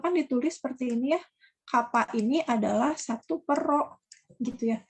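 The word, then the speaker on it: κ: Ini dibacanya kappa.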